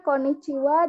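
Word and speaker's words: こんにちは: gitu seperti itu jadi Konnichiwa dan conbanwa hanya dibaca Wayah konichiwa itu Selamat siang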